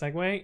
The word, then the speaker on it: segue: if i don't know that segway is pronounced segway yeah thank you um